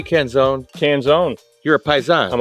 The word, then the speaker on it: Canzone: That's how you pronounce it? Well, that's how my grandfather pronounced it. Because it ends in an E. Yeah, I tell everybody the same thing. So I'm Canzone, technically, but here I just say Canzone.